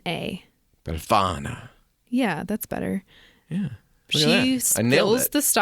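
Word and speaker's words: Befana: there's a witch that visits you she's called bellana if I'm saying that right but she's an old woman spell it b e LF A N A bana yeah that's better yeah she she spills the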